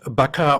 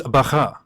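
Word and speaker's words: Baca: make it a spring the word here which is not latinized the way arabic is latinized is not baka or bakka which sounds similar to makkah it is bacha the muslim claim is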